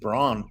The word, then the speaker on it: Braun: rotation they've got this fellow Christian Braun Brown he's of German descent I guess but you pronounce it pronounces it Brown went to Washington I